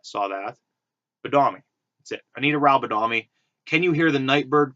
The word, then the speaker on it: Anita Rao Badami: Anita Rao, because it rhymes with how. I saw that. Badami. That's it. Anita Rao Badami.